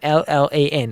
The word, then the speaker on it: Llan: It starts with Llan, which is spelt LL. Just to point out, LLAN is Llan.